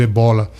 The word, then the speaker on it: ébola: profundamente indebeláveis de momento, como o ébola, por exemplo, ou chamado ebola, como queiram a pronunciação?